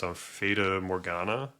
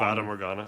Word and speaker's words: Fata Morgana: Forgive me if I pronounce Feda Morgana. Dawn. Fatana. Dawn. Fatamorgana.